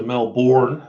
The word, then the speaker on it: Melbourne: Well, you're not allowed to come to Melbourne if you say it like that, dude.